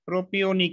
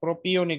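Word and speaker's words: propionic acid: এইচ এটাকে বলা হয় প্রোপিয়নিক এসিড বানানটা দেখো প্রো পিও নিক এসিড এটা থাকে মূলত চর্বিতে থাকে বলা যাবে না না প্রোপিয়নিক বলতে হবে প্রোপায়নিক বলা যাবে না ঠিক আছে তো এরকম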